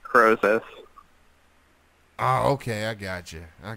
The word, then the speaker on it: Krosis: your name and so the name is pronounced Crozier okay I got you